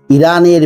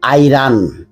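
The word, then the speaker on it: Iran: sanction against আইরান America ইরানের বিরুদ্ধে অর্থনৈতিক নিষেধাজ্ঞা আরোপ করেছে এটা হলো present perfect tense has imposed এখানে একটা জিনিস বলে রাখি আই আর এন এটা আমেরিকাতে উচ্চারণ করা হয় আইরান অন্যান্য কান্ট্রিতে বিশেষ করে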